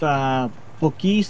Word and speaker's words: Buc-ee's: It's pronounced Buc-ee's, though.